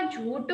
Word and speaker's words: झूठ: आणि हे पण सही पण इथे जेव्हा झूठ बोलतो आपण तर झ ज नाही झ याचा उच्चारण होते तर याबद्दल आपल्याला कोणता